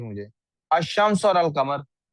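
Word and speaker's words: الشمس: अल कमर और अशम्स की ही एग्जांपल ले लेनी चाहिए थी मुझे अल शमस और अल कमर अब आप देखें अल कमर में लाम प्रोनाउंस हो रहा है शम्स में लाम प्रोनाउंस नहीं हो रहा इसका क्या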